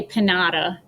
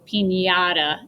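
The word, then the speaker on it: piñata: m-a-n-y maniana you don't say panada right so pinata that's one that english people english speakers actually got right when they learned the word pinata they left the nia sound in there so good job english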